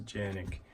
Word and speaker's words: Canik: the canik tp9 SF and turkey they pronounced a Janek anyway so let's get